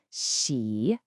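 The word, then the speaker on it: 喜: And just like wa, this character is also a third tone. Feel that dip. Xi.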